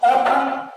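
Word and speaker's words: often: ऑफन, भले इसके अंदर टी आ रहा है लेकिन उच्चारण की दृष्टि से इसको ऑफन बोला जाता है।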